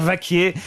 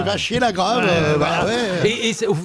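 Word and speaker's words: Vachier-Lagrave: on comprend pas maximeier peut-être je devrais dire Vaquier mais en même temps ça s'écrit va C non c'est Vachier La Grave excuse c'est un nom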